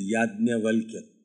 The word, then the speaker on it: याज्ञवल्क्य: यह है राजा जनक के दरबार में याज्ञवल्क्य, Sanskrit pronunciation याज्ञवल्क्य, Hindi pronunciation will be Yagyavalka.